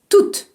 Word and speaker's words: toute: Si le mot tout est situé devant un mot commençant par une voyelle, vous pouvez le prononcer toute. Par exemple, il a tout oublié. Toute, T-O-U-T-E, se prononce toute.